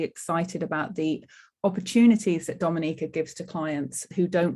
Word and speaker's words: Dominica: when they're there okay we call it dominica pronounced dominica and situated between walu and